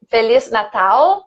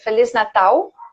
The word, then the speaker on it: Feliz Natal: Yeah, and Feliz Natal is very good because it's not the Feliz Natal, right, with the English L, but Feliz Natal.